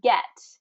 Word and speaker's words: get: All right, the word get, it's really get with a short I.